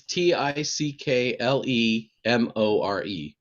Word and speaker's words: Ticklemore: spell it again stephen it's t-i-c-k-l-e-m-o-r-e so just like it's pickle and more put together as one word tickle more it means you can